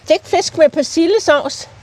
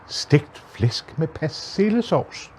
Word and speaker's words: Stegt Flæsk med Persillesovs: You don't. You mumble it. Even the Danes mumble it. You can't. Look, listen to this. Stegt Flæsk med Persillesovs. Stegt Flæsk med Persillesovs.